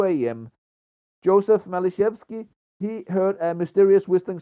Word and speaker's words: Maliszewski: His surname is Maliszewski with an L, not Matiszewski with a T, which some sources misspell it.